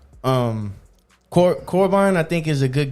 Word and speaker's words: Corban: Corbin, I think, is a good guest for us. I think like the main things we kind of talk about and stuff. I think Corban is really, it's two syllables.